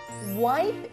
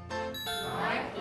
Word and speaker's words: wipe: 그래서 wipe it. Wipe it. 와이프는 그 부인은 아니죠? 네, 그 경우는요. P하고 F의 발음의 차이인데요.